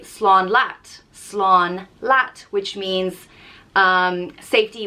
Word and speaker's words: slán: some telefish and chilled out next up is slan and it means by and it's pronounced slon the literal translation is safety but and people